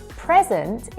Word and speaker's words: present: For example, present is a noun and present is a verb.